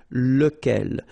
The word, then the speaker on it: lequel: So remember, you've got to pronounce it lequel. Even if you've got this QU, okay, remember that this U phonetically doesn't exist, so lequel.